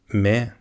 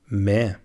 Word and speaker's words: med: Med. Here the D is silent. Med.